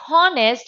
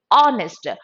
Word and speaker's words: honest: An honest man. Not honest. It is honest.